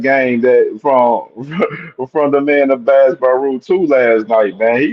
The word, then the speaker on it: Abass Baraou: Now, how you pronounce his name again? With the B? Abass Baraou.